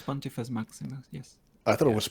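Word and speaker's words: Pontifex Maximus: Is that pronounced properly? It's Pontifice Maximus.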